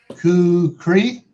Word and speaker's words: kukri: Prep Fort says kukuri. Pronouncing that. Kukri.